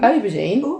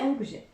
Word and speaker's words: aubergine: Aubergine. I think it might be. It's aubergine. It's not aubergine. It's aubergine. How do you spell it? A-U, but it's not pronounced like that.